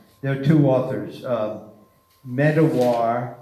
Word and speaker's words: Medawar: bomb before us there are two authors of Medawar meed awar and pike pyk II in 1939 he he